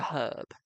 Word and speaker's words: herb: We mean the herb, okay? Or as the Americans call it, an herb, okay? They don't pronounce the um H.